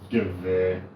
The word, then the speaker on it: Gewehr: How the Gewehr. That's how it's pronounced, mate.